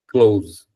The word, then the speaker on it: clothes: So, you don't really have to do the sound. This is an exception. They will do it here because they're voice over artists. They're pronouncing. Clothes. All right, so he did the but normally you just say clothes.